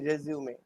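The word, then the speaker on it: résumé: উচ্চারণটা কি? রেজিউমে।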